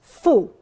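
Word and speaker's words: 福: symbol of Good Fortune the Chinese word for bat and the Chinese word for happiness is pronounced identically it's Fu and it's got It's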